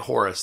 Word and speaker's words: Horus: stickler for history uh the Greeks made it Horus the Egyptians pronounce it h-o-r you probably don't care but there you go so horror or Horus was a